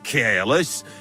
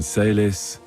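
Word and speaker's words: caelis: You're saying it wrong. Listen. It goes like this. Pater Noster, qui es in celis, sanctificetur nomen tuum.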